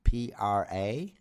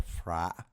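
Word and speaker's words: Phra: h r a for fra. We don't pronounce it like that. The ph should not be pronounced like an f. It should be pronounced like a P.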